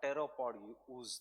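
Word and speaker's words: pteropod: they will be prood or teropod because t is silent right ooze from the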